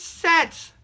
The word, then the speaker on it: Set: But the other one is Set. Or they call him Seth because that's how it's spelled. But Set, yes, the Egyptian god who,